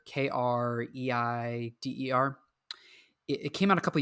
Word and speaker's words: Kreider: I think his last name is pronounced like Kreider, Kreider.